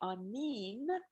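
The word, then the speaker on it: aaniin: We say anin, Ani?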